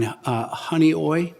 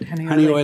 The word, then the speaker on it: Honeoye: there's a pilot program, is my understanding, in Honeoye. I'm from downstate. I think that's how you pronounce it. You one said of the it right. Finger You Lakes. did great. Honeoye Lake, where aluminum phosphate's being used, and that neutralizes the phosphate.